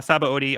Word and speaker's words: Sabaody: And we officially reach the Sabaody Archipelago. Sabaody. Sabaody, yeah. That's the way I've been pronouncing it.